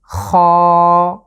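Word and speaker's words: خاء: এর উচ্চারণ হবে খ। খ। আমাদের যে কণ্ঠ আছে ঠিক এর শেষ জায়গা থেকে খ। আপনারা আমাদের সাথে উচ্চারণ করুন, খ।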